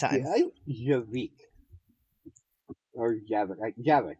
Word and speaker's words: Javik: Javik, I think it's pronounced. I can't remember how. Yeah, Javik, right.